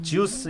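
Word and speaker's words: Zeus: 러셀 크로우 주스 역할입니다. 네. 이 미국식 발음은 주스더라고요. 그러니까요. 제우스가 아니고 쪽, 예. 자꾸 주스 그래가지고.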